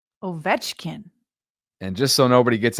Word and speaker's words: Ovechkin: Ovechkin.